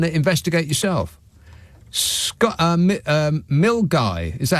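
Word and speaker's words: Milngavie: to go and investigate yourself SC um um mil guy is that how you pronounce it an that's quite correct yes but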